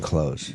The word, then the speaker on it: clothes: You're not supposed to say the TH in clothes.